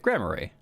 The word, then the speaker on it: Grammarly: How to pronounce... Grammar... Yes. Grammary. Let's see. Hold on. Grammarly. Yeah, I'm saying it right. Grammarly.